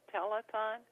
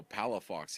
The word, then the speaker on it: Palafox: Telethon? No, Palafox is P as in Paul, A-L-A, F like Frank, O-X.